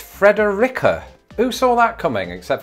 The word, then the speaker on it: Frederica: reddit article again and they say it's fredericka who saw that coming